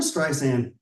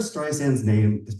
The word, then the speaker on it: Streisand: Barbara Streisand's last name is pronounced with a soft S and not a hard Z. How do I know? Because in 2016, Barbara Streisand called Apple CEO Tim